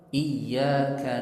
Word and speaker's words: iyyaka: Misalnya orang baca Iyyaka na'budu wa iyyaka nasta'in, dia bacanya nggak ada tasydid pada ya-nya.